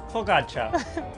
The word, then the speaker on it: focaccia: Focaccia. Focaccia. No. Focaccia. Focaccia. Bisogna dire. Is cia. Focaccia. Bravo.